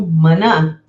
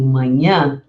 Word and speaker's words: manhã: Prestem bem atenção e pratiquem esse nh, porque muitas vezes a interferência do espanhol faz com que a gente não pronuncie o H. Então, não é correto dizer amanã, é amanhã. Não digo manã, eu digo manhã.